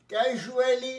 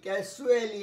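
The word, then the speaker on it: casually: আচ্ছা, ফ্রিকোয়েন্সি কত তাড়াতাড়ি, তার উদাহরণ হচ্ছে অলওয়েজ, অলওয়েজ, ক্যাজুয়ালি, দেখো উচ্চারণটা জুয়ে, জয় শূন্য, ক্যাজুয়ালি, ক্যাজুয়ালি, ক্যাসুয়ালি নয়, ক্যাজুয়ালি।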